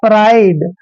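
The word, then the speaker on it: pride: और देता हूं जैसे पी आर आई डी ई देखिए पी का उच्चारण हम क्या करते हैं प करते हैं और को हम र लिखते हैं और आईडी ई का उच्चारण हमने आइड लिखना है यह हो गया प्राइड अब दोस्तों प्राइड क्या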